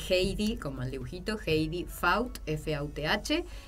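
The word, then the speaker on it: Fauth: Bueno, en Facebook se escribe Heidi, como el dibujito, Heidi Faut, F-A-U-T-H, y en Instagram es Heidi-Faut.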